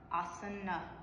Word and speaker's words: asana: Asana. So it's asana. The at the end is assumed, so you pronounce it asana.